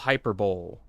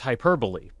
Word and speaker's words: hyperbole: hold on good old hyperbowl good old hyperbowl we all like hyperbowl here that's not how you say it it's hyperbole of course How Could You mispronounce